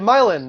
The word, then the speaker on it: Milin: his name hey boo hey milin is that how you say your name yeah that's how you say it awesome welcome to the